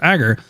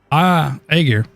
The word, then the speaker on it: Aegir: to protect a dangerous Agger citizen? If so, you'll become a criminal the same as her. Aegir? Oh, is Aegir? Oh, I've been saying it wrong. Aegir.